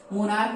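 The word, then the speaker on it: monarch: मोनार्क हम लोग बोलते हैं, इसलिए यहाँ पर एस को लिखेंगे। CH है, लेटर CH है, लेकिन हम लोग उच्चारण क का करते हैं।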